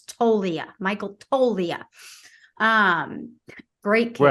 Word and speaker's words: Toglia: Michael tolia the G the g is silent Michael tolia you should